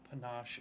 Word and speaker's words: panache: It's Panache.